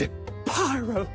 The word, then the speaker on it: Zapyro: It's Zapyro. 3 syllables of pure poetry.